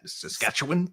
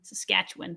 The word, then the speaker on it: Saskatchewan: you learn how to say it quickly right Saskatchewan Saskatchewan yep uh our NFL picks uh we continue